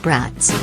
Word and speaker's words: BRAT: First things first, I'm calling this car, limited to 500 units, brats. Pronounced like the sausages cooked in Lambeau Field's parking lot.